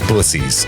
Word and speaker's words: Buc-ee's: It's pronounced bussies, I'm pretty sure.